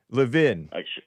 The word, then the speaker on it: Levin: Levin is how we pronounce it.